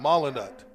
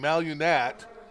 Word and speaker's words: Molinat: Did you know how to pronounce his last name correctly? Yeah. Molinat. Yeah, and so everyone's saying Malunat, and you guys just walk on by for years here.